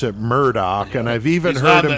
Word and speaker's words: Murdaugh: Now, one thing about the name, if you look at the spelling of it, it looks like Murdaugh. But they pronounce it Murdaugh, and I've even heard him say...